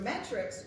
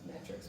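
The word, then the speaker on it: metics: with full rights; your metrics, which were foreign residents. I'm probably saying that wrong. It's probably not said as metrics, but that's how it's spelled.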